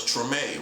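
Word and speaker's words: Tremé: You can go look it up, the TMA community. That's spelled T R E M E and it's French. So, it's TMA, right?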